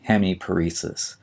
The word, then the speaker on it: hemiparesis: paralysis of a muscle and finally we have hemiparesis h-e-m-i-p-a-r-e-s-i-s hemiparesis would mean a slight weakness or paralysis